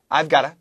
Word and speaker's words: I've got to: 빨리 말할 때 이 V 발음 잘 안 들릴 수도 있어요. I've got to 보다 I've gotta, I've gotta, I've gotta, I've gotta, I gotta, I gotta. 갈수록 진짜 V 발음 안 들릴 수도 있어요. I gotta.